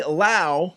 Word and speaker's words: Lowe: and it's called Lao Music. So go ahead and like that if you want. And that's spelled normal, right? Yes. And it's Lao, but it's spelled like Lowe.